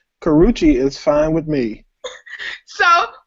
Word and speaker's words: Karrueche: Karuchi? Is that not her name? Is that her name, Twitter? Tell me if I'm saying that right. I don't know. I don't. You are saying it right. Karrueche is fine with me.